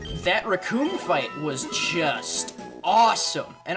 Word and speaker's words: Recoome: It's like, my name's Recoome, it rhymes with doom, and you're gonna meet yours all too soon.